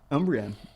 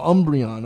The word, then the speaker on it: Umbreon: how do you say this umbrella v max umbrian oh umbreon okay vmax i think vmax is like a